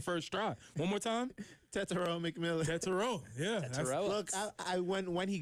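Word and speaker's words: Tetairoa McMillan: And I'm going to real quick slip in a winner here for Jared for announcing Tet's name, pronouncing it correctly on the first try. One more time. Tetsuo McMillan.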